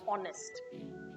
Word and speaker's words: honest: have her sound and one H is silent in nature means you will not